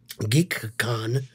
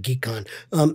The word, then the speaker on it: GeekCon: GeekCon with a K, con. Just like con, you bloodsucker. Just like con or cone from Bleach that I directed. Oh, yeah. I directed that. You know, they're spelled the same way, KON. So, but it's con, GeekCon.